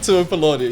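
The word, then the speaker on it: Tuipulotu: How do I pronounce his name? Christian Tuipilatu and Jaden Sewer on DCE. Tuipilatu. Yeah, you're good.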